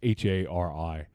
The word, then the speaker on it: Hari: I don't know if it's pronounced Harry or Hari. It's Hari. Hari Neff, I think is how you'd say it.